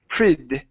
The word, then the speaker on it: pretty: the word pretty now this word here instead of using a um a short e sound we're going to use a a short I so instead of pretty pretty it's prid and we're going to switch the uh the Double T to a D sound so it's prid pretty I was pretty proud